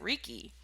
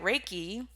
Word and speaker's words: Reiki: really explain anything because i remember when i was introduced to reiki i used to pronounce it ricky and i had no idea what it was but i was interested